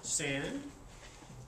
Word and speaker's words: Sande: like to introduce Carter Sande, S-A-N-D-E, but the E is silent.